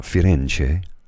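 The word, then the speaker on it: Firenze: had moved to florence so firence as the italians call it when you're in italy i always refer to it as financier and i hope i've not horribly butchered the pronunciation because florence is merely the anglicized version of uh firence pardon me while i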